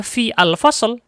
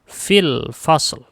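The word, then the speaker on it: في الفصل: Ketika kita kasih kata fi di dalam kelas, tidak lagi dibaca fi al-fasl, tetapi dibacanya fil fasl.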